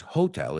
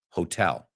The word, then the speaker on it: hotel: No es hotel, it's hotel.